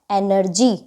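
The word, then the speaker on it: energy: होगा जी के बाद लेटर है हमारा वाई वाई तो रूल के अंदर है अगर वाई होगा तो जी का उच्चारण ज से होगा तो ये जी का उच्चारण किससे होगा ज से तो यह हमारा क्या बन जाएगा एनर्जी आई होप आपको क्लास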